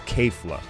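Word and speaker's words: Kefla: strong KK flaw is I got to pronounce her name right it's K flah so my prediction is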